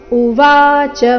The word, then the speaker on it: ಉವಾಚ: ವಿಷೀದಂತಮಿದೌ ವಾಕ್ಯಂ ಉವಾಚ ಮಧುಸೂದನಹ ಇದನ್ನ ಉವಾಚ ಈ ರೀತಿ ಚ ಮೇಲೆ ಲಯ ತಗೊಳ್ಳಬಾರದು ಕಾರಣ ಚರಸ್ ಇದೆ ಉವಾಚ ಶಬ್ದದಲ್ಲಿ ವಾದೀರ್ಘ ಸೋ ಸರಿಯಾದ ಕ್ರಮ ಉವಾಚ ಮಧುಸೂದನಹ ಇದು ನೋಡೋಣ ಪೂರ್ತಿ